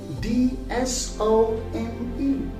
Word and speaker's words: handsome: Like we say Handsome. Yes. Do you say it handsome? It's not handsome at all. It is handsome. Handsome. Not handsome, but handsome.